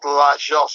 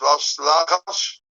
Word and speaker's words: Las Lajas: No, I have to pronounce it differently because this is not Las Jas, of course. How do you pronounce this? Las Lajas?